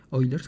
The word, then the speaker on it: Euler: famoso es el número el número de euler oilers perdón se pronuncia blair el boiler fue un